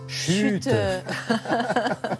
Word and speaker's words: Schütte: Il s'appelle Thomas Chute. Voilà. Thomas Chute, bah oui, il est allemand, donc il faut bien le prononcer en allemand, ce Thomas Chute.